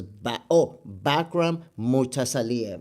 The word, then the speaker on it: Bakhram Murtazaliev: I don't want to mispronounce the champion's name because Bakhram Murtazaliev.